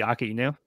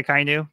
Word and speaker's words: Akainu: I think the general pronunciation would be Akainu.